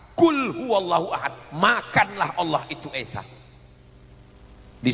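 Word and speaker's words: قل هو الله أحد: Qul huwallahu ahad. Pakai qf. Qul huallahu ahad. Katakan Allah itu esa. Tapi kalau tidak betul hurufnya dibacanya pakai kaf. Qul huwallahu ahad.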